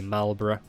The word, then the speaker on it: Marlborough: be the ing called the marlborough that's how you pronounce it for any non-british speakers alberta yeah it's not burro balbara anyway i do